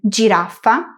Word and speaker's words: giraffa: Es curioso como en J nos pasa un poco lo que veíamos antes con el sonido y es que muchas palabras que tienen este sonido en italiano y en español se escriben igual o casi, pero se pronuncian de manera diferente. Giraffa, girasole, legítimo. Recuerda que G + I en italiano es un sonido dulce.